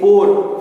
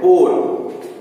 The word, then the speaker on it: pour: हम लोग एक पोर मालूम है, पुअर जिसे हम लोग कहते हैं POOR, पुअर, वो होते हैं गरीब। लेकिन POUR जब कहते हैं पोर, POUR पोर, मतलब प्लीज, एक सेंटेंस बोल